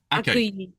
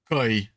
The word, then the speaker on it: accueil: But you have to really send that UH up, like super up, because it might be tempted to go more koi, like that.